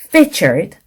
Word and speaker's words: featured: 다시 한번 listening, begins, 짧게, featured, weak, trees, 길게 발음을 하셨어야 됐었습니다.